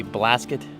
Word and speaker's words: Blasket: with the Mitzvah we've come down to the Blasket Island ferry that's how it's pronounced Blasket I don't think the ferry is